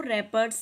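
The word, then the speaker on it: wrappers: Don't throw रैपर्स ऑन the road. रैपर्स में जो डब्ल्यू है ये साइलेंट लेटर है, इसलिए आपने रैपर्स को सर्कल करना है।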